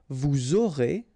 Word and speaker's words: vous aurez: you make the liaison, vous aurez, a Z at the end here, et, aurez, liaison here, vous aurez, ils auront, final T not pronounced, elles auront.